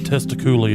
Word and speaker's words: Testicoolio: stepping foot onto the scrote okay it's it's pronounced testiculi oh yes you would you would be walking on testiclio in a mortal shell okay in a mortal